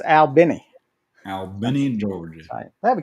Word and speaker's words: Albany: hoped oh my God or or as the locals say stalagics foreign that's like um uh Albany Georgia right it's Al Benny Albany Georgia they have a cute little aquarium